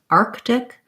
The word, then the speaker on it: arctic: trying going from arc arctic arctic so if you start with the word arctic again think about it like are arc arctic arctic and then just antarctic